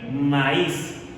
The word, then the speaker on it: maíz: Bien, fíjate que en el caso del maíz, la vocal cerrada, la vocal tónica cerrada es